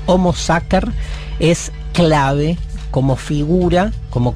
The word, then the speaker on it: Homo Sacer: Entonces, más 3-4 veces nombró Natalia el Homo Sacer, que se escribe Sacer con C, pero en latín vieron que la C se pronuncia siempre en términos duros. Homo Sacer es clave como figura,